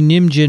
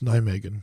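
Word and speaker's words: Nijmegen: is in the netherlands that's nigh megan megan yeah what did i say nidge megan you said something like ninja boy yes you did i think we're mispronouncing some of the words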